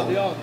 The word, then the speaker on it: Odeon: Odeon, con l'accento alla francese.